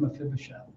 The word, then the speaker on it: Mephibosheth: how to say it if you say no fibbin Mephibosheth weird but it goes